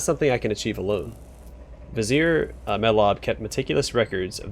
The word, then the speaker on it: Vizier: can be found in Vizier Vizier Vizier that's how it's pronounced Vizier Vizier mylabs historical records